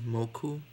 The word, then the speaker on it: Mokou: that's his name right now his name is moku m-o-k-o-u in japanese it's so weird i have